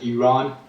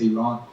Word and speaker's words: Iran: time yeah um well we pronounce the country as Iran I know a lot of people they say I ramble it is Iran so um well first